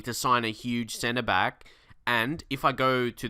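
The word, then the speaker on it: Bailly: there and also uh Eric ba I believe that's how you pronounce his name not Bailey cuz I he's it's not English it's not English name I had a bit of a search and I heard people calling him like that so yeah if that's right um that's how you pronounce his last name ba is that right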